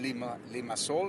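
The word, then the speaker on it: Limassol: I was in Lima Sol. Yeah, baby. Sol in Spanish means sun, but you know, they spell it like soul, right?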